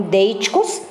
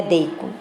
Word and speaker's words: deítico: Então, são alguns pronomes que podem atuar como deíticos, podem estabelecer relações, ou podem estabelecer relações anafóricas ou catafóricas. O que é o deico? Né? Então, não é deico, é deítico. Sempre pronuncia essa palavra errada.